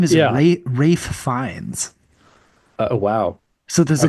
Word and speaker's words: Fiennes: Rafe Fiennes. Oh wow. So there's a good It's chance. not Ralph Finesse?